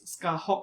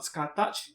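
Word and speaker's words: Scathach: Yeah, her name is Scarhawk apparently, not Scartouch. So one of you corrected me on my pronunciation in my figure review, Alter's version of Scarhawk. So I'll make sure to bear in mind about that mistake. I'm so used to pronouncing Scartouch, though that is not really the way to pronounce her name.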